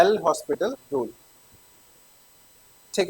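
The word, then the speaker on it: L'Hôpital: next है बेटा आपका कुछ लोग इसको एच साइलेंट करके एल ओपिटल रूल भी बोलते हैं इसको बेटा मतलब अलग-अलग प्रोनाउंसिएशन होता है हॉस्पिटल ना बोल के इसको ओपिटल बोलते हैं इसको एलपिटल रूल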